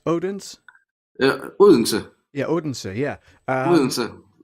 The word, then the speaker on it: Odense: Yeah, I had the pleasure of visiting Odense. Is it Odense? It's pronounced Odense.